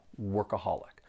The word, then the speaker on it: workaholic: There are four syllables and the stress is on that third syllable. workaholic.